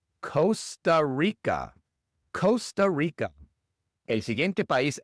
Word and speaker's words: Costa Rica: Y en la segunda palabra, la R, claro, es una R inglesa, no es rica, sino rica. Rica. Costa Rica.